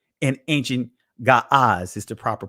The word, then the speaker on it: Ge'ez: Ge'ez is not a proper pronunciation of the ancient language because they did not have E sounds.